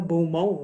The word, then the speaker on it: Beaumont: Mais j'en ai un dans mon nom, moi, Beaumont. On ne prononce pas le T.